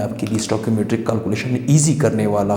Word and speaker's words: stoichiometry: जैसे लफ्ज़ मैंने क्या लिखा है, स्टोइकियोमेट्री, इसका प्रोनाउंसिएशन कैसे होगा, स्टोइकियोमेट्री।